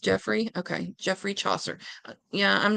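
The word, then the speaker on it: Geoffrey: what do I know Joffrey is pronounced Jeffrey okay Jeffrey Chaucer yeah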